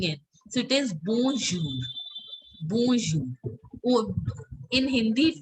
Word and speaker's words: bonjour: N sound has to be very subtle. It should not show that you are pronouncing it. So it is bonjour.